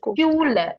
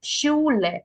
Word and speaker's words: Schule: It's Schule, Schule, Straße, Schule. Schule, ആ ഒരു E pronounce ചെയ്യാം കേട്ടോ.